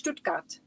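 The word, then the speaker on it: Stuttgart: Mishi, how do you pronounce Stutkat? Stutgat. It's Stutgat. That's how you pronounce it.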